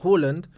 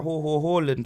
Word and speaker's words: Haaland: And then Haaland, like, just is what it is, bruv.